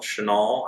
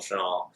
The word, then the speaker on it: Shinall: And Michael Chanel, I hope I had to say that right. It's spelled Shinall. Yep.